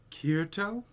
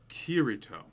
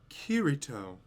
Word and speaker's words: Kirito: are difficult to pronounce is it kirito her intonation was slightly off so i repeated myself kirito kirito that's perfect that must have been